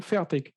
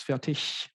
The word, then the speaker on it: Fertig: then in german because i mispronounced my own last name for roughly 30 years i say fair tick with more or less a k at the end but proper german it's fatigue so what do we